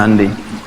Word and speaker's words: Hyundai: ya Korea bikin hundai Hyundai bacanya hundai kemudian sana masuk Piala